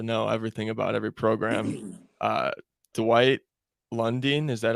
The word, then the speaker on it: Lundine: Dwight Lundine, is that how you say his name?